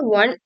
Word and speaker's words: one: the sound the word one is pronounced as one which starts with a w sound a consonant sound so we correctly say